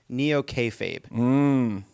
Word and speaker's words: Neo-Kayfabe: In your book, you describe the Republican Party's approach to reality as Neo-Kayfabe.